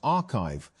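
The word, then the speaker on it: arXiv: Although papers are posted to the site before they are peer-reviewed, Orgsiv, pronounced archive, has become one of the main ways that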